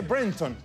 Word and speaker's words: Brereton: Es que sabes que Priscila se dice Brereton. Así se dice.